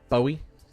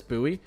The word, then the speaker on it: Bowie: Oh, it's that they pronounce this buoy. No, that's a crime. That's a crime. B O W I E is pronounced buoy.